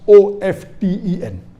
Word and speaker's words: often: new people are saying of 10 is correct t is not silent it should be pronounced some say t sign